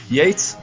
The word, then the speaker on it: Yeats: irish poem by william butler yeats yates yates i think that's how that's pronounced and the title of